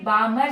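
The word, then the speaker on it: Balmer: तो हम उसे बोलेंगे बामर सीरीज वो जो पैटर्न रेज का हमें ऑब्टेंड होगा वो होगा हमारा बामर सीरीज एल साइलेंट होता बामर नहीं बोलते बामर सीरीज राइट जैसे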